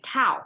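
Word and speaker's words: Dao: a more abstract right and that's the Chinese Tau so this contemporary Chinese we use d d a o to to Mark the pronunciation as that but a lot of times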